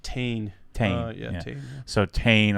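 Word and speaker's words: Tein: Is it pronounced TN or Tane? It's actually pronounced Tane.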